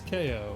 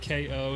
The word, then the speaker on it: Kao: kangaroo with boxing gloves that's ko like get i don't know why i didn't understand the pun sooner but ko is in like knocking out someone like in boxing but it's spelled k-a-o anyway we are in